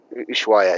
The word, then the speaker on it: Ushuaia: are Rio Grande and, forgive me if I pronounce this wrong, Ushuaia. Ushuaia, yeah, that's it.